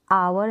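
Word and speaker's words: hour: इन सारी स्पेलिंग में ह साइलेंट है जिसे अवर है ओनर है प्रनंसीएशन हो रहा है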